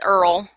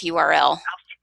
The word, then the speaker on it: URL: knows what URL means it's also been known to be pronounced as Earl but then again I listened to the Dixie Chicks and Earl had to die so i'll stick with URL any clues or guesses